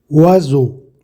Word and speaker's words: oiseau: Résultat, il se prononce the. Exactement, on prononce oiseau.